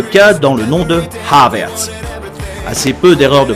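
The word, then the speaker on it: Havertz: et comme dans mais c'est surtout sur son nom de famille qu'il y a beaucoup d'erreurs déjà le H se prononce il est aspiré comme dans la salutation anglaise hello et non silencieux comme dans je haie les gens qui oublient de prononcer les h la surprise elle vient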